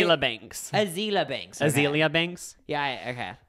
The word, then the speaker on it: Azealia Banks: Azealia Banks.